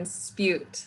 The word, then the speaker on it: Spjut: like care bear uh-huh and then spute like cute oh spute yes